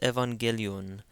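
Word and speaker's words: ⲉⲩⲁⲅⲅⲉⲗⲓⲟⲛ: the double gamma again the first gamma is pronounced like an N the second one is pronounced like a hard G because an a comes after it so this is Evangelion Evangelion means gospel Evangelion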